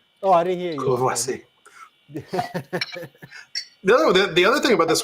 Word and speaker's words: Courvoisier: Corvasia. Courvoisier.